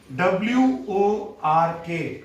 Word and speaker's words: work: नंतर W-O-R-K, work. वर्क शब्द आहे परंतु आर आपल्याला सायलेंट करायचा आहे थोडासा. वर्क.